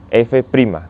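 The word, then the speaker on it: f′: se con nota o se lee se dice se pronuncia f prima entonces con esta idea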